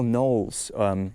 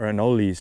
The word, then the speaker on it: anole: We are seeing a ton of beautiful anoles, or anoles, depending on how you like to pronounce it.